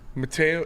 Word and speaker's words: Mateo: It's Mateo. It's Mateo. I'm pretty sure it's Mateo. Yeah. For sure? I know, like, Brazilian dudes. That's how they say it. I was listening to somebody say Matthew, though. I don't think that's correct.